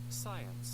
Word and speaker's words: science: the tent power okay science science science again science science science science science as you have heard two syllables posia all right so